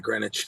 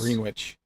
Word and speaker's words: Greenwich: Yeah, Greenwich. That's their normal. That's right. It's Greenwich, isn't it? Not Greenwich. Guess. Greenwich.